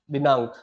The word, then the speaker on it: दिनांक: क्या होता है, इस प्रकार से होता है, दिनांक, और हम इसको ड पढ़ देते हैं।